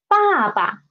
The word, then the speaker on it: 爸爸: For reduplicated syllables, it means there are two same syllables together, especially there are two same characters put together and their sound will be different.